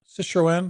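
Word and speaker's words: Citroën: I think it pronounces Citroen, or what? Citroen.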